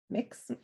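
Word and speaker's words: Mx: i use they them and mix which is pronounced mix um i am queer and that is just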